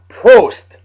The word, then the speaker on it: Prost: Prost. I found the pronunciation. Thank you, Justin. Prost, as they say in Germany.